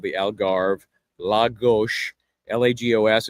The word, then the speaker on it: Lagos: Lago L agos. It's pronounced Lagos, is a bigger town, kind of a very popular tourist area.